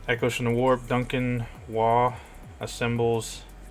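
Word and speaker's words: Waugh: In The Warp Duncan wah assembles I think that's how you say his name wall w-a-u-g-h symbols very own tempesta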